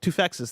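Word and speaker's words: Toufexis: I actually don't know how to pronounce his last name. Tufex's.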